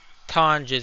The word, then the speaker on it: Tonges: Because Tonges, I think his name is pronounced. I just call him Tonks. I like that better. Didn't like Tonges or whatever it's pronounced.